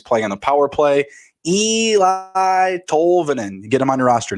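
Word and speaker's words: Eeli Tolvanen: All right, first up, we've got, I guess it's Eli Tolvanen. Is it Sounds Eli? Good to me. Double. The first E is silent, like the D in the in the front of my name.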